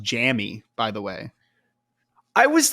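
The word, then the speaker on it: Jammie: I actually think it's pronounced Jammy, by the way.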